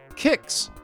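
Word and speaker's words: Qix: Kicks, pronounced Kicks, is their first totally American game.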